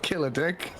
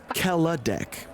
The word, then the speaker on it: Kaladek: Well, you have been saying it wrong this whole time, but Oh, is it not Killer Dick? it's Kaladek.